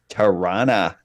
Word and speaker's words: Tirana: It's Tirana? Tirana. Yeah. It's a There- way it's Yeah. this way that we pronounce it. Oh, you going to Tirana tomorrow? No, yeah, Oh, yeah. No, That's awful. There's no T's, there's R's in there for some reason. It just kind of rumbles out.